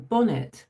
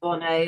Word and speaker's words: Bonnet: So I'm Bonnet, actually, but you can pronounce it Bonnet as well, because Americans do. And my parents, when they got married, the vicar insisted on calling them Bonnet. So either will do.